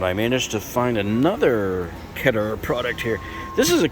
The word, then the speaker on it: Keter: got their keter oh i always have to say ketter it's not pronounced keter it's ketter they have their adirondack